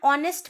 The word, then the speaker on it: honest: An honest man. Now, honest has an h in front of o. So h is a consonant, but the h sound is silent, so the o sound is coming.